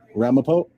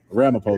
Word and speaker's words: Ramapo: I wish I could see our face sorry Ramapo that's a town yeah Ramapo though that's how you say it okay thank